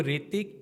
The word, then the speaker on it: Hrithik: ऋतिक को ऋतिक या ऋतिक, एच का जो है यहाँ पे साइलेंट हो जाता है, तो एच का कोई इफेक्ट नहीं आ रहा है।